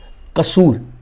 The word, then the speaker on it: कसूर: पंजाबी में इसको लाहौर और कसूर ऐसे प्रोनाउंस किया जाता है।